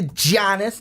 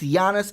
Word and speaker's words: Giannis: she didn't give me the Janus no it's Yanis under the kumbaya Gianna